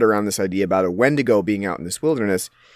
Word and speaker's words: Wendigo: on, like the Indian Wendigo myth that comes up at the beginning of the movie. They spell it Wendigo, but it's the Wendigo, like the Wendigo being